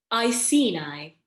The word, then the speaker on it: Iceni: Iceni.